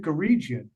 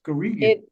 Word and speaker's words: Guregian: I always pronounce it Guregian, but Wrong. it's hard G's. Guregian.